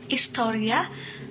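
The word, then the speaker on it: ἱστορία: Come from the ancient Greek historia, or pronounced historia, which means study by asking questions.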